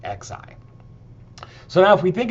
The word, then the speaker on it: xi: So that is the Greek letter uh and it's pronounced z xi.